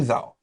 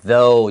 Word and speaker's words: though: wombats fool you though。不过千万别被它这可爱的外表给骗了。袋熊长得很可爱，可是你以为它怎么样？很温驯吗？你往下看，它是说 Be careful of that word though. Don't say thou or 这个 OUGH 发音常常可以改变。For me, 这个 though 下面 OUGH, I just wrote long O. So 我知道这个是 though. though 就是虽然的意思。